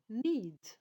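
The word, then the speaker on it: knead: it fry the verb need need yes need decay is silent to need so the cooking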